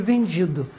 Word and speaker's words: vendi: Então veja, essa pessoa acredito que aquele imóvel estava a ser vendido, mas ele escreveu com I no final, que obrigatoriamente ele tem que pronunciar essa palavra como a sílaba forte é o di, vendi.